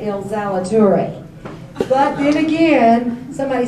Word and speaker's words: Ilzaliturri: All right, it's Ilzaliturri. Who can pronounce it besides myself?